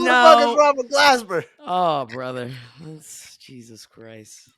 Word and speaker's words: Glasper: If you said it right the first time, it would have been really funny. I didn't say it right the first time. You said Glaspie.